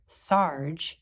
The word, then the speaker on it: Sarg: Sarg rhymes with arg.